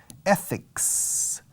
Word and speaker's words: ethics: Y la TH en medio se pronuncia como una Z. Eth, o una C suave. Ethics.